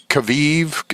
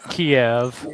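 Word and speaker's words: Kyiv: uh so three hereditary clairvoyance in uh Kav Kaviv is that K Y I V Kaviv. I'm not sure how you pronounce it but anyway uh it's Kiev.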